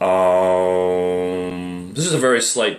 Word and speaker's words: aum: sounds similar to om when you use aum it's more of a um this is a very